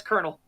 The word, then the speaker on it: colonel: just like yeah that's so weird it's like no that's kernel what but it literally says colonel it's like no no that that i know it i know what it looks like that is pronounced colonel what a freaking